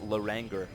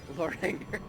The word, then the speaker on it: Loranger: for a moment that's my bad it's actually pronounced Loranger Loranger for don't don't let him hear you say